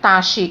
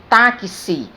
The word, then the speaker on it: táxi: Na palavra táxi, por exemplo, é grafada com X, mas eu não pronuncio taxi, eu pronuncio táxi. Veja que o X, ele representa o som Ki e o Si.